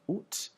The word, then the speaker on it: août: So you sort of sound like an owl a little bit when you're saying it, so it's août. You can also pronounce it, you'll also hear the pronunciation août with the final T, août. But it's more of a formal thing.